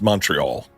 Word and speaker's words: Montreal: It's Montreal. Montreal. Well, I will take it. It's Montreal. It's Montreal. I gave him the Canadian pronunciation, which is Montreal, and he got very upset.